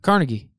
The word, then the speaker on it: Carnegie: Carnegie yeah yeah yeah I pronounce it carnegi oh yeah that didn't go well that did not go well well I feel like that's like the LinkedIn pronouncing I'm a sea of carnegi Steel well it's actually how the Scots pronounce it ah well that makes